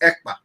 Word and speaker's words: Ekpa: And my name is not Akpan. My name is Ekpa.